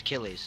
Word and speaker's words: Achilles: It's Achilles. Oh, like the name of the hero of the Iliad.